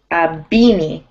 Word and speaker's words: beanie: Beanie. Beanie. Yeah, it sounds like the word beanie.